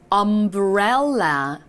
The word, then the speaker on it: umbrella: umbrella. 와우. 한 번 더요. umbrella. 마지막 umbrella. 아주 좋아요. Don't forget your umbrella. 우산 챙기는 거 잊지 마. umbrella. 라는 이런 느낌으로 유가 어로 발음되는 경우들이 정말 많구나.